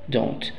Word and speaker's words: do: do a o don't don't Okay lo mismo pasa con does más not si analizamos la pronunciación does Okay partamos desde do primero do tiene un sonido de una u larga do muy bien ahora al